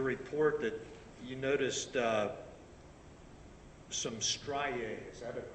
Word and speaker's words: striae: And I note from your report that you noticed some striae. Is that a correct pronunciation?